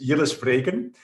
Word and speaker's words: Jilles Vreeken: mean everybody does this but my name is yellows freighten and indeed i'm with the cisco helmholtz center